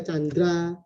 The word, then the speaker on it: Tjandra: Nah, lalu ada TJ itu sekarang kita baca C. Jadi kalau misalnya TJANDRA kita baca Chandra.